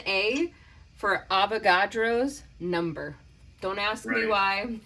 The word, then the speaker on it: Avogadro: atoms or molecules you need avocados number it's actually avogadro you should probably say it right for some of you only hearing it for the first time avogadro sometimes i think i'm